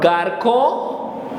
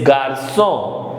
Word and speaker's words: garçon: So so with accent on the bottom, without accent it gives k sound. And therefore it is not garçon, it is garçon.